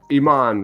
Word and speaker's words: Iman: all right uh caitlyn also says uh it's iman right is that how you say it yeah